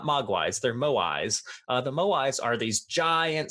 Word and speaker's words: moai: Easter Island are actually called moai. Moai. You nailed it. That's exactly how you say it. It reminds me of mogwai.